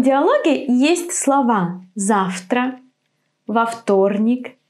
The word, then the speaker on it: вторник: So when the consonant after V is voiceless, V becomes F. Завтра. Вторник.